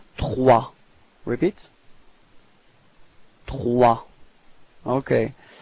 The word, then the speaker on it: trois: Okay, so remember that O plus I gives you this wa wa wa sound. Okay, and then the final S is not pronounced. So you get this trois.